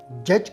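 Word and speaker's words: judge: जज जज के मानी है काजी। काजी को हम इंग्लिश में जज कहते हैं। इसमें लेटर डी साइलेंट है। आपने इसे जज प्रोनाउंस करना है।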